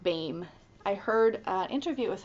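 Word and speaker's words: Behm: And yes, you pronounced Martina Bame's name like Bame.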